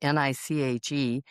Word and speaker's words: niche: And then Your Gift is Your Niche, NICHE, or niche. I just did it because it rhymes.